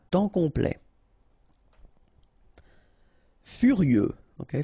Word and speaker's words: furieux: Furieux, okay, final X not pronounced, furieux, furieux.